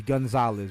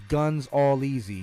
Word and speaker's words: Gonzalez: i'm saying and my my government last name is gonzalez but i don't pronounce it that way either it's guns all easy mmm